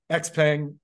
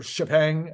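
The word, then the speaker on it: Xpeng: mean quite frankly uh x-pang or ship hang I guess if you pronounce it correctly uh Lee and and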